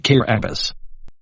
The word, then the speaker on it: Kiribati: the Swahili Karen de agua mountain of whiteness Kiribati previously called the Gilbert Islands Kiribati is the native pronunciation at Gilbert and is pronounced care abbis Kosovo Kosovo's name came from the serbian cyrillic